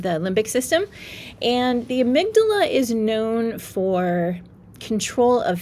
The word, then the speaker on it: amygdala: Now, some people pronounce this amygdala. I pronounce it amygdala.